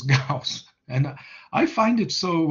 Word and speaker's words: Gauss: is gauss okay um it's not gauss it's gauss and i find it